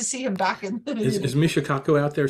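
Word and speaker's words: Michio Kaku: is a mistake me no Rob you correctly pronounced I know it should be Michio cuckoo I know Ben Jane Carl Leonard and Vincent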